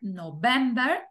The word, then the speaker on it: November: primera en inglés aost y qué pasa con septiembre octubre noviembre y diciembre van a acentuadas en la segunda sílaba decimos september october November and december Okay entonces septiembre octubre